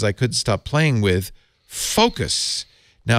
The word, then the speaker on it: Focos: In fact, frankly, I was distracted for the rest of the show because I couldn't stop playing with Focos.